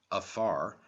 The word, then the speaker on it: fear: africa from the irish a fear pronounced afar a man represents the